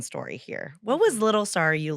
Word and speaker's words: Sarayu: And I'm just like, It's Sarayu.